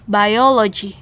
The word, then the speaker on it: biology: reading a biologist booke Jadi kalau ini bacanya biologi bukan biologi biologi itu bahasa Indonesianya tapi kalau sudah di bahasa Inggriskan dia dibaca by iologi OK kita ulangi ya